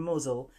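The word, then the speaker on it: Mousehole: visit or tail from muzzle that's how it's pronounced but the spelling looks like mouse hole in 1595 a fleet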